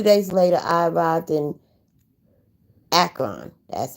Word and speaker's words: Akron: I gave her the details, she gave me her blessings, and 2 days later I arrived in Akron, that's how you pronounce it, by Greyhound.